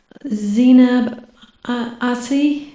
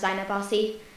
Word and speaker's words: Zainab Bassi: Zinab Asi, is that it? Zinab? you almost pronounced my name right. No one ever does, so don't feel bad, don't worry. It's actually pronounced Zainab Bassi.